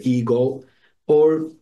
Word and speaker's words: ego: we call the higher ego or in order to differentiated from the the connotations that the word ego has today we can pronounce it ego in the Greek way so the higher egoo let's say uh this